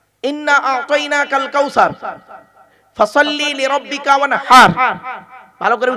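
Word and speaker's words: وَانْحَرْ: আতাইনাকাল কাউসার ফাসাল্লি লিরাব্বিকা ওয়ানহার। ভালো করে উচ্চারণটা শিখে নিন। ফাসাল্লি লিরাব্বিকা ওয়ানহার, ওয়ানহার নয়, ওয়ানহার। এই গলার ভেতর থেকে হে এটা উচ্চারণ করবেন।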